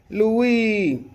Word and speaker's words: Louis: He pronounced it the French way. Louie, the way people in New Orleans always did.